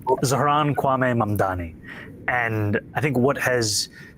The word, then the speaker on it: Zohran Kwame Mamdani: If you can respond to that and tell us how you say it, your full name. Zohran Kwame Mamdani.